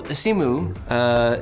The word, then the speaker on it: Simu: So Simu, is that how it's pronounced?